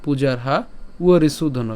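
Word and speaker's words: পূজার্হাবরিসূদন: তো ব্যতিক্রম উচ্চারণ হবে এর তাহলে কি বললাম পূজারহা উরি সুধন কেন এখানে ব এর উচ্চারণটা কার মত হবে উয়র মত হবে তাহলে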